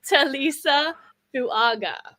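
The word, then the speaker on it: Tuliese Fuaga: you say that D it's TSA fug fuaga is how you say that I need to say it slowly everyone say it with me telisa fuaga that's how you say that fuaga yeah faga I'm I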